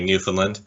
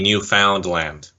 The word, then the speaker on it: Newfoundland: was a bit of controversy because John Montgomery pronounced it the same way as a lot of us do say Newfoundland when it's really Newfoundland you really got a rep Assizes the ending